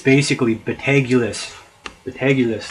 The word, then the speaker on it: Betelgeuse: basically but AG euless the tag euless that's how you say it the tag list not be don't beetlejuice that's Hollywood spoof booth poof poop telling